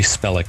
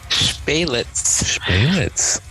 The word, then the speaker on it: Spelic: a very special guest spellick did i pronounce that correctly it's baylets you know here it